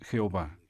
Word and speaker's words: Jehová: bueno en primer lugar expliquemos por qué usamos la pronunciación jehová es acaso porque se trata de la pronunciación más parecida a la original no usamos el nombre jehová porque es la forma más extendida es lógica esta postura